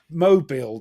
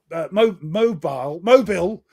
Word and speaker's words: Mobile: Now you pronounce this Mobile, don't you?